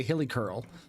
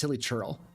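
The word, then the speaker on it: Hilichurl: purposefully say really but I also say hilly churl or hilly curl I say hilly curl when it's hilly churl you're going to be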